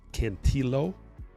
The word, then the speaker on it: Cantillo: Some say Cantillo, some say Cantillo, some say Cantillo. I think it's Cantillo. You actually L the L's. Cantillo, but instinctively I want to say Cantillo.